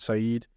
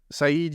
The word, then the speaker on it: Said: There's a famous book written by a guy whose name I believe is pronounced Edward Said in 1978 called Orientalism.